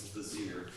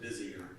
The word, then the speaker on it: vizier: It's phonetically not the way it's spelled, because it looks like it should have an extra syllable. Okay, vizier. Emphasis on the second syllable.